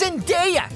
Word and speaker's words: Zendaya: It's pronounced Zendaya, idiot.